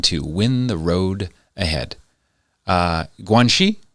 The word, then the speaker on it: Guanxi: Guanxi, is that how you pronounce it? Guanxi. Yes, Guanxi, which means, like, according to this translation, the art of relationships.